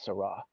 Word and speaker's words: Sarah: him Sarah Cardinal Sarah I think it's pronounced Sarah on church militant where I originally heard about Cardinal Zara that you did say Sarah a couple of times but then more recently they've been saying sir Roz I think they figured out the correct pronunciation is sera but I mean I